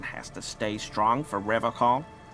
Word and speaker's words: Revachol: But, someone has to stay strong for Revachol. He pronounces Revachol with a hard K, unlike other people.